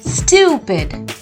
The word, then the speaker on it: stupid: not stupid it's stupid you have to stress on the U syllable stupid what do we call